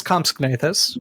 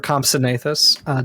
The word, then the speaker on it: Compsognathus: His name is Compsognathus, or Compsognathus, depending on how you pronounce the word.